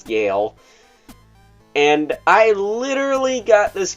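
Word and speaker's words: Galle: That said, we also have Lieutenant Gale, not Golly. I thought his name was Golly because it's spelled Golly, but it's not. It's Gale.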